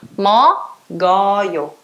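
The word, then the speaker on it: 먹어요: Então, mo, go, yo. Mo, go, yo. Essa é a pronúncia de mok, o, yo. Entenderam? O K vai roubar o lugar da bolinha na pronúncia.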